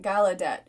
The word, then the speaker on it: Gallaudet: the blind in dc it rhymes with nicolette gallaudet uh it's a stretch